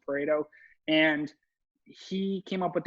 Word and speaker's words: Pareto: that's the pareto principle everyone calls it predo but it's actually pronounced pareto and he came up